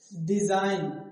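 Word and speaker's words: design: डिजाइन, क्या, डिजाइन, डिजाइन, यहाँ भी क्या है, जी, जी जो है वो क्या है, साइलेंट है, डिजाइन, डिजाइन मतलब बनावट,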